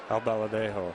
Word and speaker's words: Albaladejo: Breaking ball is inside, and a brief scouting report on Albaladejo. My first question is, am I saying his name right? Albaladejo.